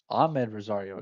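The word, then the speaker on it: Amed Rosario: Rosario, actually ahmed Rosario, excuse me, I've been calling in Anthony all night.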